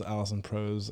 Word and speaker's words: Alison Prose: So people who don't know, this is Alison Prose, and that's how you say it, right?